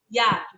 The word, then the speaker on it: hiato: Porque quando a gente fala hiato, a gente pronuncia as vogais, né, separadas, ó. A gente não fala hiato, hiato. A gente fala hiato, certo?